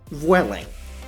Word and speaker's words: Vueling: Wehling yes that is how it's pronounced Dennis it's a that